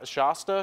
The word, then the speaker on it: Shasta: you know the the the part through Mount Shasta that's how you say it right Mount sh Shasta Shasta Shasta you were you were there the